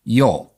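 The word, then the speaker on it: jól: And it may have even gone as far back as protonors, a word spelled j o l, pronounced probably something like yol.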